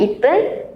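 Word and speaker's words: 一分: Angka 1, 3, 6, 8 dan 10. Jadi dibacanya ipen samben, dopun, hapen, dan jupun ya minasang.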